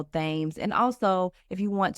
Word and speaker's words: Thames: So Instagram at, the middle initial L, and then Thames, which in Australia we would pronounce it Thames, like the River Thames in London, Thames.